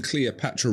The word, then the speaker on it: Cleopatra: Now, much like 1998 pop sensation Cleopatra, who based an entire career around the idea that the name Cleopatra rhymes with coming at ya, you might think that this circular obsession would be very limited for Gauthier and Trilobe.